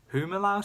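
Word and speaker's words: Humilau: Humalau City, I believe is how it's pronounced.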